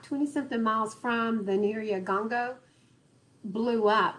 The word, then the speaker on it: Nyiragongo: Have y'all seen the pictures of the lava coming out of let me pronounce it properly. Nyiragongo.